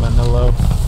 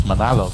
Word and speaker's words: Manalo: Manolo. Really? Why? Why would you say my name? You said my name so wrong. It's Manalo, bro.